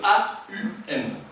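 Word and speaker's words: ॐ: Om. Et le monosyllabe Om que l'on transcrit par OM est en réalité une contraction de A-U-M. Aum.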